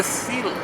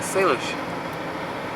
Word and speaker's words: Salish: Homeland of the Sealess. Well, yeah, I won't. Sealess. Yeah, Salish. They just spell it different at the top.